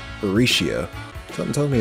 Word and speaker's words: Rixia: Hold up, is her name Rixia or Risha? Rixia.